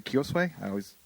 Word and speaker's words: Kiyosue: Teppei Kiyosue. I'm terrible with pronunciations. No. Is that good? Yeah. Good, It's Kiyosue?